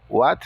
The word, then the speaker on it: what: O W com o som de U. O H é mudo. O A tem o som de A. O T com o som de T. What?